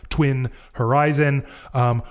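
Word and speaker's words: tuinorizn: says is that it it is phonetically pronounced like Twin Horizon.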